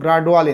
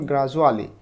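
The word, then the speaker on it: gradually: আর গ্রাজুয়ালি এটা কিন্তু গ্রাজডুয়ালি না তোমরা হয়তো অনেকে এটা মানে মিস করতে পারো গ্রাজুয়ালি এটার উচ্চারণ গ্রাজুয়ালি এডুকেশন এর মতো বাট উই আর গ্রাজুয়ালি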